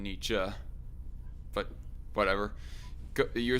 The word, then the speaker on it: Nietzsche: of nietzsche i pronoun i heard it pronounced more as knee jay more than nietzsche but whatever you're saying